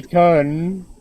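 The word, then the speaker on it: kun: ] that's not correct it's khan khan that's how you say it it's um in like phonetics it's the upside down e hmm fanatics bye and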